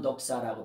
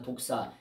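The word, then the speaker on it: δόξα: 물론 헤알라어는 넉사라고 표현하죠. 독사가 아니라 이런 바이퍼라는 독사 이런 뱀이 아니라 넉사라고 이렇게 표현합니다. 그냥 독사라고 표현하기도 하는데 원어의 발음을 하면 넉사라고 이렇게 표현하죠.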